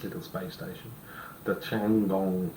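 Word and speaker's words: Tiangong: So, China are going to send up the Changong 2 in September. Stop upsetting people. No, that's got to be how it's pronounced. Changong.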